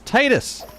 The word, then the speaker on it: Titus: Are you a Tetus person or a a Ted or a Tetus? Titus person. Tetus or Titus? Oh, is there like Do people really say it like Tetus? It's Titus.